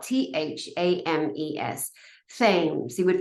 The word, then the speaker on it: Thames: expect it to be spelled Thames t-e-m-s no it's spelled t-h-a-m-e-s fames he would pronounce it Thames so it's